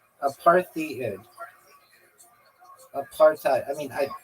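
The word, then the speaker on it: apartheid: ever said and have you heard a South African ever say apart. No apartite is what they say.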